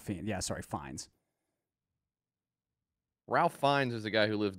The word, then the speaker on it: Fiennes: Ralph Fiennes. Fiennes, not Fiennes. Yeah, sorry, Fiennes. Ralph Fiennes is the guy who lives down it's not the road.